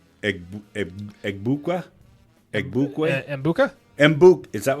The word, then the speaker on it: Egbuka: Egbukwe?